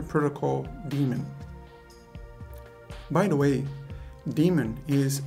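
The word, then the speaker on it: daemon: for hypertext transfer protocol demon by the way demon is spelled D AE m o n and it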